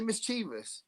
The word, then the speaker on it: mischievous: Yeah, because there's because you put an extra eye in it. mischievous.